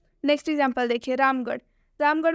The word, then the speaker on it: रामगढ़: रामगढ़ में भी अंत में आर एच आया है इसलिए जो आर एच है उसका उच्चारण ढ हो गया है।